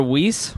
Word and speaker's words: Weiss: Weiss. Weiss. Which is it, Aaron? It's Weiss. Weiss. Weiss Weiss. is the Jewish pronunciation.